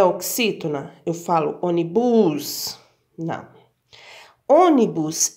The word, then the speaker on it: ônibus: Onibus, eu não falo assim. A palavra ônibus, eu falo ônibus, a sílaba mais forte é o ó.